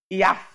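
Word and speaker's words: יעף: Este termo da força aos fraco, fraco aqui se pronuncia no hebraico IAF, que significa uma força que foi perdida.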